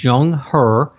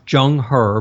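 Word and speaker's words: Zheng He: period you have a great naval officer named Jung her and for those who want to Google this his name is spelled with a z it's z h n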